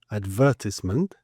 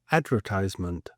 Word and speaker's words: advertisement: So in the UK we would say advertisement and the Americans would say advertisement. And the there's a sort of the Brits tend to or in English generally you would emphasize the first syllable or on really long words like the third from the back as we can see here. So we'd have advert advertise advertisement.